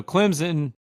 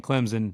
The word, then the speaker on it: Clemson: got drilled by Clemson fans on social media for saying Clemson they're like there's no Z in Clemson I'm sorry I'm from the Deep South my accent's thick like I don't know maybe I'm saying it wrong but I'm just gonna